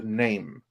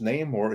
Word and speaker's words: Namor: they have retcon the name because Neymar is no longer pronounced name or it is now pronounced Nam which which is more like uh spanishified and it's uh it